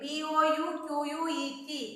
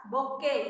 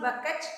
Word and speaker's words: bouquet: B-O-U-Q-U-E-T. We pronounce it as bouquet. It is not bucket, it is bouquet.